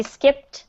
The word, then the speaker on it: skipped: So make sure that you pronounce that final t sound in the last syllable.